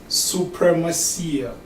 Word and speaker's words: Supremacia: Supremacia. Supremacia. It means supremacy in English, but it's translated in Spanish, supremacia.